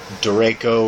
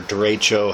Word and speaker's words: derecho: For anybody in the eastern United States, especially like West Virginia, Ohio, parts of Pennsylvania, they had the big derecho or derecho, however you want to pronounce it, the big windstorm we had come through June of 2012.